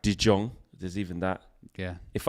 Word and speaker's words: De Jong: thinking frankie frankie frankie dion frankie dion people are saying i was saying it right de jong there's even that yeah